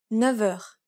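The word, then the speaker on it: neuf heures: 9 heures. The F takes on a V sound.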